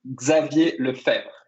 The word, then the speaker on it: Xavier Lefebvre: me uh yes um my name is xavier lefebvre in french which is not not easy